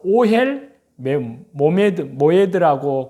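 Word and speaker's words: אהל מועד: 이는 히브리어로 바로 오헬 모에드라고 그렇게 발음을 합니다.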